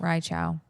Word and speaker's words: Reichow: So we got to get this guy's name right. Rai Joel Chow. Reichow. Rai Chow.